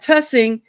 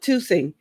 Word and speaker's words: Tussing: right or not like we got a street called Tussing but some people call it toing so I'm like but it's spelled t u SS iing tus so if it's two it needs to be something else going on there I don't know